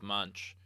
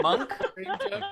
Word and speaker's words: Munch: in the style of Munch. I believe it's pronounced Monk.